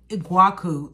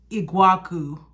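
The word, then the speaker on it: Iguaçu: The guy said it in the store, is Iguacu. That is the ugliest, like, that's how you pronounce this, Iguacu.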